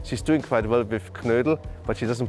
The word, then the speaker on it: Knödel: She's doing quite well with Knödel, but she doesn't pronounce it perfectly yet because it's called Knädel.